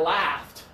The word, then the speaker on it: laughed: this is laughing okay it's actually the same pronunciation as the FT over here yeah left in the left I'm sorry English is